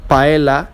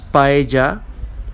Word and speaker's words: paella: And here we have 2 examples of it: paella, which is a food in Spain, not paella, it's pronounced paella, and we have lleno, not leno, okay, the double L is pronounced like an English J.